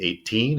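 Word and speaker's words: eighteen: it's going to be 18 or 80. Right? So, teen second syllable stress.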